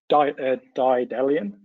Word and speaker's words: Daedalean: I'll let Luuk introduce Daedalean, and then we'll get into the meat of the That's right.